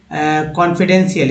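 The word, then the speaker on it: confidential: या लिखते हैं, मान लीजिए कि कॉन्फिडेंशियल, एक वर्ड लेते हैं, कॉन्फिडेंशियल, इसमें बहुत सारे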